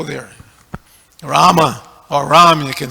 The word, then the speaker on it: Rama: of our kiranas that there's no o in Rama because a lot of them like to say r there's no o there Rama or Ram you can